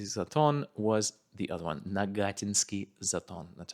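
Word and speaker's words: Нагатинский Затон: Nagatinsky Zaton, that's how you say it.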